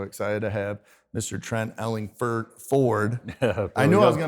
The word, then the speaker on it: Ellingford: I want to say Ford, but it's Ford, Ellingford. You're not the only everybody kind of defaults to Ford, even though it's spelled with an O.